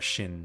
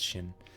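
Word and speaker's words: シン: want to go with a Jin or a shin rather in Japanese it's chin and Mallos group all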